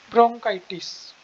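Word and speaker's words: bronchitis: में गलत लिखी जाती है, तो आप मेरी प्रोनाउंसिएशन भी ध्यान से सुन सकते हो, ब्रोंकाइटिस।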